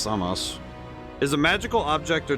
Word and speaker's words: Sampo: In Finnish mythology, the Sampo or Samos, pronounced Samos, is a magical object or device described in many different ways.